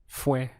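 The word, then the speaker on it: fue: was is very simple simple in Spanish it's just one syllable f means it was and the word for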